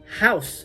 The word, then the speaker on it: Hausu: on our six pack house or hou as it's pronounced this is a directed